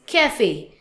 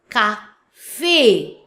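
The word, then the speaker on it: café: Without accent, the sound is kaf. But now with accent, then the sounds of cafe. In English is cafe, but in French, cafe.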